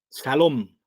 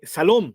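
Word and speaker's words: שלום: Jehová salom sí eh a la palabra hebrea se cierto se usa una ha intermedia por eso nosotros la pronunciamos como shalom no eh salom Salem tienen que ver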